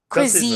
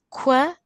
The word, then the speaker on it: cuisine: yes, How say that? Cousin, right? cuisine, cuisine. Cousin, cousin, So we cousin, say cuisine. cuisine, Yes, cuisine.